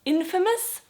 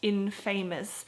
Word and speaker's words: infamous: pronounce that but in this word it's actually pronounced Infamous not Infamous again I think it must be because there